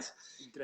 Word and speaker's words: Drenthe: Drenthe.